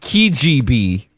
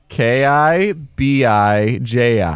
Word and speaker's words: Kibiji: You said Kijb. How was it spelled? How was it spelled? Now I'm self-conscious about it. It's Kibiji.